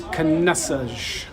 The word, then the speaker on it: Caneças: I've grown up my whole life with my mom and dad saying Caneças, not Caneças. So I've just learned that proper pronunciation is Caneças.